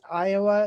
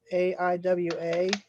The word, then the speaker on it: Aiwa: mini boom Box by I think it's pronounced Iowa it's Aiwa you can play your